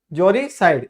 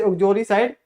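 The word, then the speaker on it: uxoricide: अब देखते हैं उजरी जोरी साइड इसे उजरी साइड नहीं पढ़ते क्या पढ़ते हैं जोरी साइड यू साइलेंट रहता है तो जोरी साइड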